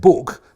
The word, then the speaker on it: book: Almost no one any longer said book to rhyme with took or look or even fuck, as in fuck you bastard, which was the way it was pronounced in flat-vowelled, lawless Lancashire, just a few miles